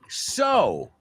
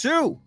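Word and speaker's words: sew: Pues el verbo coser, S-E-W, is not pronounced su, like few. Well, few tampoco. So the the EW in few sounds like you, right? But in the EW in coser sounds like oh, so.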